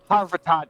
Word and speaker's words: Harvat: pronounce that per well harat harat harvat is how it's pronounced actually all right cool